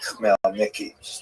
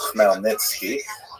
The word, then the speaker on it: Khmelnytsky: And it's sometimes spelled in Roman characters with the Polish spelling, making it look something like Khmelnytsky. It's actually pronounced Khmelnytsky with a guttural at the beginning.